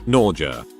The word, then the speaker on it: Norja: I worked with 2 girls who had the following first names: Norja, pronounced like nausea, and Cinnamon.